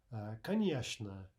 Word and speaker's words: конечно: Another common example is конечно, конечно, meaning of course. So instead of конечно, конечно, we say конечно, конечно.